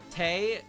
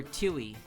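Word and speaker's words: Tewi: I didn't know that the W in Taye's name is basically silent. So, I called her Tui. That was her name. Her name was Tui because it was T E Wii. Tui. But no, it's Tay.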